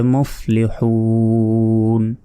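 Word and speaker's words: مفلحون: তাহলে মুফলিহুন। আর যদি এখানে না থামি, তাহলে এখানে এক আলিফ টান হবে। দেখুন হাওয়া পেশ হু, এক আলিফ টান হবে। কেন? পেশের বাম পাশে ওয়াও সাকিন আছে, তারপর নুন জবর না, মুফলিহুনা, হামজা নুন জের ইন, নুন লাম জবর নাল, ইন্নাল। তাহলে মুফলিহুনা ইন্নাল, এভাবে পড়ে যেতে হবে।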